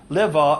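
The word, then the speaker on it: לוה: he when it's pronounced laa it means to borrow when it's pronounced Lea it means to accompany and this is was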